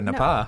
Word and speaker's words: Napa: So nobody Oh, you have to go to Nepal. Nobody. Nepal Valley. Everybody just turn this podcast off right now. Uh, your pronunciation is a fauxpaw. Nepa. It rhymes with Nepal.